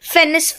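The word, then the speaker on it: fennec: This is फेनिस Fock और फेनिक फॉक्स। ठीक है, both the pronunciations are correct.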